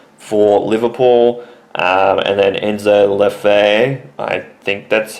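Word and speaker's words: Enzo Le Fée: It's got the inflection on the first E of the two. It's like fe like F E E but the first E has got the inflection on top of it.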